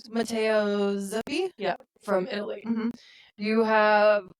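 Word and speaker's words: Zuppi: Zappy. Matteo Zuppy.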